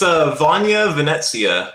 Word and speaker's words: Vanja Venezia: Welcome in to Vanja Venezia of Temenigru. How's it going? Hello. Did I pronounce that correctly? It's Vanja Venezia. There's like that weird little kind of T sound on the Z.